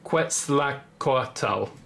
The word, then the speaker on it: Quetzalcóatl: and this was basically this dragon I'm gonna pronounce it again Quetzalcoatl is one of the as I said the